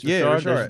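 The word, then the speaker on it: Richard: That's how you pronounce it. Ricard. There's a little bit of an accent on it.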